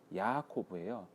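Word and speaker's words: יעקב: 그리고 이 야곱이라는 이름은 야코브예요.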